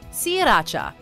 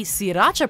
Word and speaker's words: Sriracha: Yet, even those who make the sauce have said it's necessary to drop the first R in sriracha in order to pronounce their product correctly, with the reason